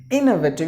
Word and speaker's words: innovative: So innovative, innovative. You have to give the stress in the beginning.